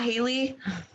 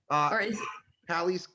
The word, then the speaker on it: Halley: you pronounce it earlier it's not haley hallie's haley's comment yeah hallie's comment i don't know okay okay